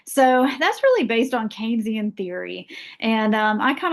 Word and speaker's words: Keynesian: It looks like Kynisian theory, right? It's pronounced Keynesian.